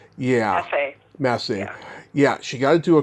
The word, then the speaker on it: Massey: So I know that, Laurel, how you pronounce her last name, Laurel Massey. Yeah. Massey.